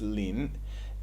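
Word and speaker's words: 林: take the other character which is pronounced lean and this all of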